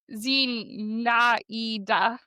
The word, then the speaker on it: Zinaida: This person, it looks like, so it's Zinaida is how you pronounce it, but it looks like very close to Zendaya. So my brain wants to switch that a lot, but it's Zinaida, I think.